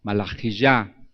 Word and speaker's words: Malaquías: Joel Yael Dios el Dios es Jehová malaquías malaji El mensajero de Jehová son hombres muy bonitos